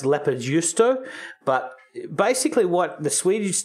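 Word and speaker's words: leipäjuusto: It's actually a Finnish squeaky cheese, which is pronounced leppöjuusto, but basically what the Swedish decided, this cheese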